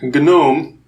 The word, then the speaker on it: GNOME: so you know like gnome is actually in English proper pronunciation it's gnome yeah so they don't pronounce the g at the beginning but for for Gnome we we say it so this is the